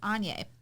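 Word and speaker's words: Áine: And so, I think Anya, I used to have a student whose name was Anya, and she pronounced it, or she spelled it A-I-N-E. I think it's Anya, but she pronounced it Anya. So anyway, I think it's Anya, though, the goddess.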